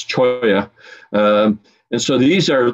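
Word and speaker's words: Cholla: keep on moving okay cool all right so choy is and i i you know people often mispronounce words and names so you hear people call them challas and that kind of thing but it's choi um and so these are tree-like um and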